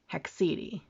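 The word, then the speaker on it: haecceity: I looked it up according to Google it's pronounced hexedi so we're gonna go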